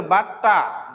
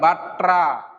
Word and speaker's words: বাট্টা: এই জায়গার মধ্যে স্টুডেন্ট একটা ভুল করে সবসময় বলি বাট্টা প্রাপ্তি, এটার উচ্চারণ রয়েছে বাট্টা, বয়াকার, টয় টয় আকার, টয়ের নিচে ট, বাট্টা। এখন যদি উচ্চারণ করা হয় বাট্রা ট্রা, তাহলে এটা ভুল, এটা বাট্টা।